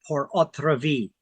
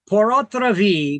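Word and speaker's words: pur autre vie: There's something called a life estate portra. Now, that's a Latin term. I know it it's pronounced and it's and it sounds the same in French, but the spelling is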